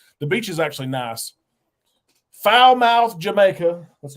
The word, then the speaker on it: Falmouth: no we're going to foul mouth is that how you actually pronounce it yeah we've been to Montego Bay I don't know how many times uh Falmouth Jamaica it's very close